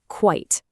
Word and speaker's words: quite: The sound is your biggest clue. Let's say this one out loud too. Quite. You hear that? It's one single sharp syllable.